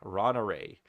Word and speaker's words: Ronaray: So for you, I recommend going to Ronaray, which spelled like it sounds. Ron, like the name of a dude, and array like a matrix from math. Array. Ron Array is who I want you to look up for some druid builds.